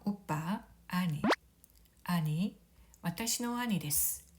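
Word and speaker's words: 兄: 형, 오빠, 아니. 아니, 와타시노 아니 데스. 제 형, 제 오빠입니다. 간혹 오니라고 발음하는 경우가 있는데요. 오니는 도깨비이고요. 형과 오빠는 아니가 되겠습니다.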